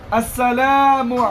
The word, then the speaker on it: আসসালামু: বিশেষভাবে আসসালামু শব্দের হামজাকে ভালোভাবে উচ্চারণ করবে এবং মিমের পেশকে ভালোভাবে প্রকাশ করে মারুফ পড়বে। এবার বলবে আসসালামু আলাইকুম ওয়া রাহমাতুল্লাহ।